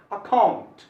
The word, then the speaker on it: account: इसको पढ़ना चाहिए अकाउंट, अकाउंट, अकाउंट नहीं बोला जाता है, अकाउंट नहीं बोलना चाहिए, गलत प्रोनाउंसिएशन है, इसको बोलना चाहिए अकाउंट।